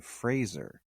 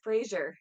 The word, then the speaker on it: Fraser: thing he was like my name is Brendan Fraser like Razer he's like it's always been mispronounced why was like the glass just shattered I was like I've been saying his name wrong all of these years yeah a lot of people pronouns it Frasier yeah and I that's